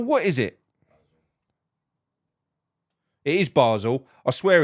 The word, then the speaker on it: Basel: for sake is it Basel basil what is it it is Basel I swear it's Basel because I've heard oh